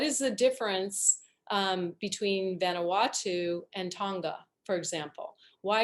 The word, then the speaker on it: Vanuatu: i mispronounce um vanito is that vanity or vanatau i'm sorry i'm probably butchering it becca what is it ottawa vanuatu thank you um don't make